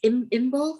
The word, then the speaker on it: Imbolc: But yeah, I think is that the same as Imbolc? If that's how you pronounce it? Yeah. So Imbolc is the coming of spring, yeah, and all